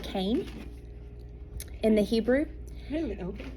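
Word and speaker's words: חן: funny the word is hen but it's actually pronounced Cain in the Hebrew really open yeah I know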